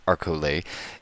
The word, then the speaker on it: Arcole: the arol map and someone who's actually Italian confirms with me that it's pronounced arcole and if I I